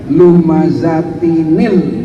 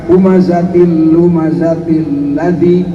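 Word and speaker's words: لُمَزَةٍ الَّذِي: Dikasih harokat yang tanwin yang notabene adalah nun sukun, maka dibacanya lumazatinil. Nah gitu tuh, kan asalnya lumazatin dengan alladzi, jangan dibaca humazatil lumazatil ladzi, jangan, itu membuang harokat.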